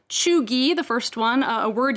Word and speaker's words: cheugy: front on the guardian today these words are pronounced chugi the first one a word used by generation